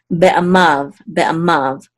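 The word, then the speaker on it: בְּעַמָּיו: This is going to be silent, and then the vav will sound, so we'll pronounce this mav. Okay, be'amav, and this is the accent mark.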